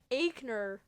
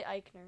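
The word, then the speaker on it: Aichner: insincere and beth phoenix would mispronounce fabian aikner again it's really eichner going for insincere and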